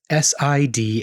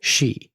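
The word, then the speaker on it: sidhe: she here is spelled s i d h e so it reads like Sid but it's pronounced she mhm she or another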